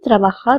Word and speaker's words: trabajar: We are saying trabajar over here because J has the pronunciation of K in Spanish.